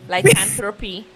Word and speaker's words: lycanthropy: Lycanthropy.